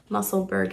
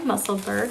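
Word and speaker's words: Musselburgh: make the very popular muscleberg hat that is the american pronunciation muscleburg i know that if you're british or scottish you might say muscle burrow here it is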